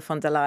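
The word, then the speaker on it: von der Leyen: for new beginnings in the end as ursula fond de la in the correct pronunciation um uh said i think you know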